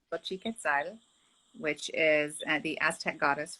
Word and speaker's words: Xochiquetzal: So it's pronounced Xochiquetzal, which is the Aztec goddess for the love and the flowering earth.